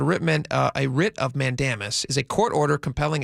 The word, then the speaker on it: Mandamus: Uh they filed something called a writ of Mandamis. Mandemus. I'm not a lawyer. Uh so I may be mispronouncing Mandis. Mandamus.